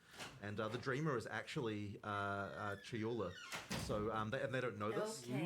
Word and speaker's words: Chayula: So the acolyte of, I always get this name wrong. The acolyte of is it Chalula? Chayula. I always say this wrong.